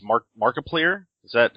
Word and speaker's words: Markiplier: not a huge YouTube fan so it's mark markiplier is that how you pronounce that markiplier markiplier there you go that